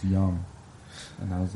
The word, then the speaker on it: Yang: yo it's great it's it's pronounced young and I was like